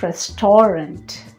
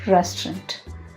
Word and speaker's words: restaurant: family and friends the word is restaurant not restorant it's restaurant the restaurant has been recently renovated the next